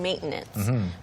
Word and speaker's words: maintenance: 일반적으로 콧소리라고 하죠. maintenance. 비음을 That's true. I didn't even realize. Maintenance. T 발음이 코에서 나와요.